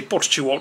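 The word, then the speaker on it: Portstewart: Le lundi, on aura le parcours où Jon Rahm avait gagné l'Open d'Irlande, Port Stewart, qu'il faut prononcer Port Stewart, si tu veux le faire vraiment irlandaise.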